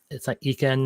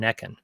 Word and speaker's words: Ekken: Proper pronunciation for Ekken. It is Ekken. It's not Eken, it's not Ekan.